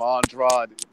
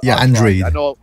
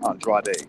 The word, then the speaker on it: Andrade: I know everybody calls him Andrade. It's Andrade. I know a lot of people with that last name, and it's pronounced Andrade.